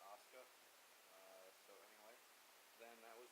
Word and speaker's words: Asuka: I'm American, so it's tough for me to not pronounce the U, but they like to call her Asuka.